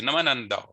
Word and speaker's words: namanandao: Namananda, of course, they'll say it a bit quicker. They'll say namanandao, but it's exactly, if you chunk it up into syllables, it's namanandao.